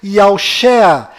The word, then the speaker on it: Yahushua: A pronúncia do nome de Josué deve ser Yahushua, e a pronúncia do nome do Messias é certamente Yahusha.